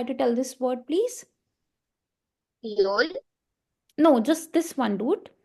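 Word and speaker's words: Öl: Because O is O, L is L, so ol. Now, can you try the same word with umlauts? It's Yol, ma'am. Exactly. So basically now somebody who has doubt pronouncing it, it's not ol, it's yol, okay?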